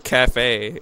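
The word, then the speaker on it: café: you're in my face i'm going to the cafe because i need food why do you keep calling at the caf when it's called the cafe that's how you pronounce it it's called a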